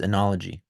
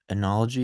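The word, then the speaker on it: oenology: What is enology? Enology is also known as enology, pronounced the same way.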